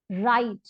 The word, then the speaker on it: write: ह ई म, हिम, राइट। अब यहाँ पे देखिए ये WRITE है, लेकिन हम इसमें W का प्रोनाउंसिएशन नहीं करते, इसको हम बोलते हैं राइट, WRIT, राइट का मतलब